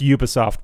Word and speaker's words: Ubisoft: It's pronounced Ubisoft, by the way.